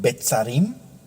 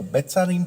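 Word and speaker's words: Beth Sarim: iban a resucitar y iban a vivir en Betzarim, en San Diego, California.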